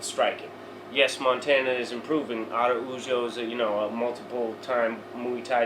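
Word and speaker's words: Araújo: And so how do we say it? Araujo. Araujo. Yeah. Okay. That's not how it's spelled though, is it? Well, A-R-U. Yeah, so there's no D. But it's the roll of the R. You got to get that Spanish accent going.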